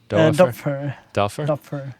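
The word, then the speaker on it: Doepfer: How do you pronounce that name? The Dopher? Dopfer. Dopfer? Yeah.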